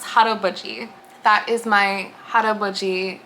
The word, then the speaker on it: haraboji: a quick note here as someone who is Korean um it is pronounced hot Buie that is my hot